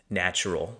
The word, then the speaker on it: nttrl: This is Natural. That's how you pronounce it.